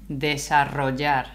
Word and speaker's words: desarrollar: Desarrollar. And then the double L is a J. Like your J mm-hmm. sound, okay? Yeah. Desarrollar. So the double L is a J sound here in received the pronunciation.